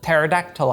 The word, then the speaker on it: pterodactyl: off the fact that pterodactyl has a silent p number two exposure while